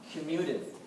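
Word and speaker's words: comminuted: fractures the bone kind of just shatters out commuted is how you pronounce that yes sir uh so there's all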